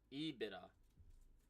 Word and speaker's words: EBITDA: We are pronouncing it right. EBITDA.